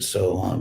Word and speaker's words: Soham: So that's how you say it in Sanskrit, Soham, it is I who am.